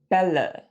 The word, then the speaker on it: Bälle: Say bet or fed. It's also the eh in hello. Some examples of this sound in German, spelled with the A umlaut, are Männer, Hände, Bälle, Äpfel.